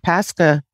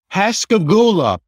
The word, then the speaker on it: Pascagoula: And how do you pronounce it? Pascagoula. Pascagoula. Pascagoula.